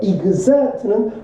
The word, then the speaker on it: exert: exert는 발휘하다, 기울이다 이 뜻이에요. exert 이렇게 발음해 줘야 돼요. exert 이렇게요. 이렇게 발음 안 해주면 못 알아들어요. 그러니까 미국 혁명이 발휘했다라는 사실이죠.